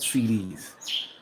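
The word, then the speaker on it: cedis: the currency that they have here is called CDs and that's exactly how it's pronounced c um but they can make money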